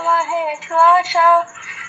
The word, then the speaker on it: महेश्वासा: अस्य शूरा महेश्वासा भीमार्जुन समायुधि युयुधान विराटश्च द्रुपदश्च महारथः।